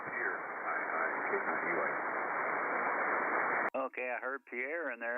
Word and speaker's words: Pierre: It's pronounced Pierre.